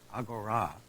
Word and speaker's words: Agora: tells me that uh it's pronounced in Greek Agora uh it means the